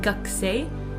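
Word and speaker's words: 学生: We write 学生 but we say 学生.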